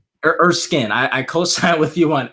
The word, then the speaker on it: Erskine: Erskine. Erskine.